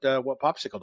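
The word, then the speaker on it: Popsixle: No, not the frozen treat. It's spelled with an X instead of a C. Sam, tell the folks what Popsicle does.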